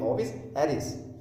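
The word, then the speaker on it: Ovis aries: हिंदी में एराइस लिखा हुआ है पर इसकी प्रोनाउंसिएशन ऐसे होती है ओविस एरिस।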